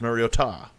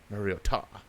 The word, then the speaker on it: Mariota: It sounded like kind of Spanish. Mariota. Mariota.